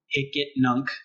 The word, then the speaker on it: Hicetnunc: Hicetnunc is how it's said.